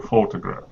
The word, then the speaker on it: photograph: so where's the syllable where's the stress in the word photograph photo to graph three syllables which is the stressed one one two or three hard to say photograph photo the first one the first right photograph